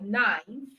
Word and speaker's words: knife: silent letter K all right so we have silent letter K silence letter K and you find it in words like knife no NE all right so you have n